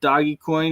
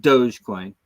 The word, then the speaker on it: Dogecoin: going to a dollar the doggy coin and I know it's supposed to be pronounced Dogecoin but I called it doggy coin for years before anybody ever told me it was Dogecoin and I can't get